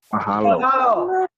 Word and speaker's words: Mahalo: Is anybody that can read it that can pronounce that? Mahalo.